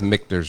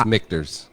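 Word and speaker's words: Michter's: Somebody said we pronounce Mictors wrong. It's Mictors. M-I-C-K-T-E-R-S.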